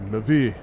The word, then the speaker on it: MEV: No, it's actually pronounced Mavi.